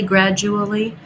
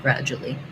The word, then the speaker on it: gradual: We tend to condense that jewel into just jul, gradually. So even though the spelling here is the same, this is dual, no j, and this is jewel, gradual. So the D, the reason I'm crossing it off is that we do a stopped D there.